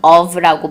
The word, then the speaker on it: of: 그리고 오브 같은 경우도 뭐뭐의 할 때 오브도 오브보다는 of라고 발음을 하는 것이 조금 더 정확하게 발음을 할 수 있는 방법이에요.